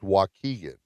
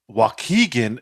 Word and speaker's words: Waukegan: That's pronounced Waukegan. Waukegan, Illinois.